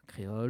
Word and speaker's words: Kréol: Effectivement, voilà, comme ça s'écrit à Télécréole, donc K-R-E-O-L. Voilà, créole.